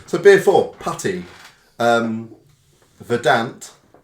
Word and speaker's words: Verdant: beer four PTY um verdant verdant verdant pronounce like you're describing a green and Pleasant Valley so I would say